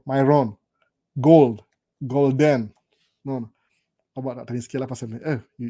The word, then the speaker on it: Myron: By the way, mu pronounce vibaya saa zingine. Myron. Kama Byron. Myron.